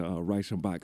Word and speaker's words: Reichenbach: But yeah, so shout out to Reichenbach Steak, and that's how you say it in German.